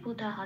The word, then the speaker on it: বুধাঃ: নম্বরে তালিকাভুক্ত করা আছে পূর্ণ হ দিয়ে প্রতিস্থাপিত হবে, ধয় আকারের সাথে মিলিয়ে হয় আকার হবে, তাহলে হবে বুধাহা।